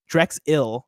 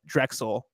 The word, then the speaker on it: Drexel: went to Drexel University it's pronounced more like Drex ill than Drexel it's at Rexel Drexel